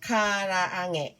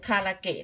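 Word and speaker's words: 唐揚げ: เรียก ว่า คา คาราเกะ จริง ๆ แล้ว ไม่ ได้ ออก เสียง คาราเกะ นะ คะ เพราะ ว่า เกะ คำ นี้ เค้า ใส่ ขีด ข้าง บน 2 ขีด เ เลย จะ ต้อง อ่าน เป็น แหงะ นะ คะ คารา อาหงะ นะ คะ ภาษา ญี่ปุ่น จะ ออก เสียง คำ ว่า คาราอาแหงะ ไม่ ใช่ คาราเกะ นะ คะ คน ไทย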